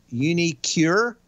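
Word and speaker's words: uniQure: side of it uh unicure i'm pretty sure that's the way that thing is pronounced q-u-r-e uh nice thing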